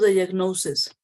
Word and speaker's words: diagnoses: in singular, one diagnosis, the plural is usually formed by changing the ending to es, diagnosis. Here the pronunciation changes. There are two diagnoses. One diagnosis, two or more diagnoses, right?